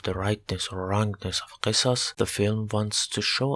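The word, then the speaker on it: قصاص: (I pronounce Qisas. it's ق letter, doesn't exist in English language. I use Q instead of that letter.)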